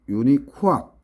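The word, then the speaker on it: UNIQUAC: 그다음에 이거 암기할 때 제일 좋은 게 NRTL식 유니쿠악. 발음 나는 대로 유니쿠악 하면 스펠링도 안 까먹죠.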